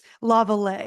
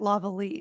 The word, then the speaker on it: Lavallee: wow so his his his dad is from Belgium that's why so Laval is how it's pronounced but he had the